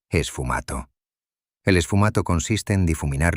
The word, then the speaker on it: sfumato: El esfumato, pronunciado, esfumato.